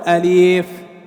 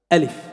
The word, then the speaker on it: ألف: انتبه، بعضنا يقول أليف أليف ألف، كله سنة ألف لا مد فيه.